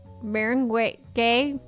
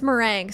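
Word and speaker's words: meringue: with French Maring Maring Maring gay is how you say Maring gay and connected by sugar glass mer oh it's mering sorry I sorry I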